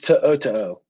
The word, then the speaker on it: To'o: Tao, I believe. Well, the Buckeyes. I thought it was, he's our college football encyclopedia. It's To'o.